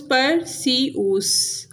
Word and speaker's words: Perseus: Next है pronunciation guide, जैसे ये डेने, ऐसे परस्यूस, पर सीऊस, पोलिडिक्टस, पोलिडिक्टस, मेडूसा, मेडूसा, एंड्रोमेडा, एंड्रोमीडा, ऐसे डिक्टस, डिक्टिस।